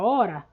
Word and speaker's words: hora: letra h certo né nesse caso da palavra hora o h não aparece na fala certo então você já